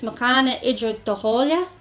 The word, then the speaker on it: Muckanaghederdauhaulia: The actual name is Muckanaghederdauhaulia, or Gauhaulia, it just depends on where you're from in Ireland, how you pronounce that.